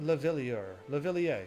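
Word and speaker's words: Leveilleur: Is that how you say his name? Louvillier. Yeah, that's it.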